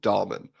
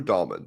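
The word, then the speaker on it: Dalman: and by the way it's Drew dolman my the entire podcast offers its apologies that we have not been able to just say his name drew dolman the senator for the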